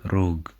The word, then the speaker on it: rrugë: In the word, rrugë, we can see that the double R represents a trill in Albanian.